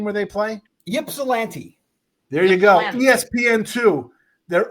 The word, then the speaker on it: Ypsilanti: You know how to pronounce the name where they play? Ypsilanti.